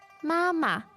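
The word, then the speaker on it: 妈妈: let's try one more Mama M again the first ma syllable there is first tone yes and then the second syllable is a neutral tone M and hi hi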